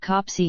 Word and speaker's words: Copley: Indeed, the bishop often stayed at Copley pronounced Copsey Hall, Lord Beamis's place in the west.